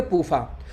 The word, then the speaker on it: PUFA: तो पूफा शॉर्टकट में हो गया, PUFA, इसको शॉर्टकट में पढ़ेंगे पूफा।